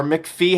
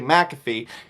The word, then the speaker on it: McAfee: you've ever heard of the antivirus software mcafee or mcphee however you want to pronounce it it's actually mcafee that's him john mcafee